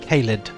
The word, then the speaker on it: Kyrre: I've actually confirmed it with my mother-in-law, who is Irish, and she said that Kyrre is actually the right way to say it, apparently.